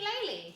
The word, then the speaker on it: Laylee: And apologies if this is wrong, but Ellie from... From what? That thing. Kazooie. Oh, you mean Laylee? Laylee. Okay, yeah. That's why I was pronouncing it wrong. Ukulele, yeah.